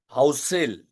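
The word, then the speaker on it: Housel: तो yes Morgan हाउसेल एच ओ यू एस ई L right मॉ्गन हाउसेल की किताब है साइकोलॉजी ऑफ मनी उसमें से ये मुद्दे मैंने लिए हुए हैं।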